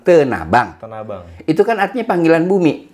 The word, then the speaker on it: Tanah Abang: Kita bacanya bukan Tanah Abang, Tenabang.